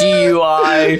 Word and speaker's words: GUI: The next GUI. Just the way it's like randomly capitalized. It's spelled like DUI, it's GUI.